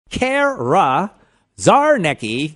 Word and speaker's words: Czarnecki: Cara Czarnecki. You don't pronounce the C.